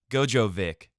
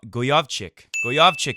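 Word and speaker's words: Gojowczyk: beat how do you say his name again Gojo Vic Gojo vich is what I used to say go goovi goovi is how they're saying it now 6462 pretty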